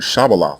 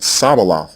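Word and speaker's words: shibboleth: people were taking up the canaanite pronunciation of the word shabalat which means stream and saying it sabalath instead and the text emphatically states that they were pronouncing the word incorrectly hebrew already has a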